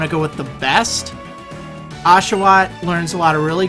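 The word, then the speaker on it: Oshawott: call it oat um but it is actually pronounced ashaw sort of interesting um I'm going to pick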